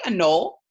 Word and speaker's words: anole: lizard called an anole can you say a null yeah that's just how you say it and a anole is